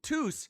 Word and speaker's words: Tous: Also can call me tois rhymes with Oh, Tous rhymes with goose.